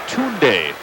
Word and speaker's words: Tunde: First name is Tunde. It's pronounced Tunde. Troell, he's the backup point guard.